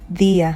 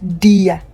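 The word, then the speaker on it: día: So we say dia, not dia. Okay, dia.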